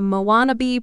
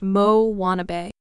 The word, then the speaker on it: Moanabe: On the fictional South Pacific islet of Motunui, there now exists a variety of tween girl known as the Moanabe, pronounced Mo-wannabe.